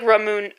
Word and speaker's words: Ramune: Anyway, so Jurus, you said no heavier moon pronunciation? Okay. Oh, it's like Ramune.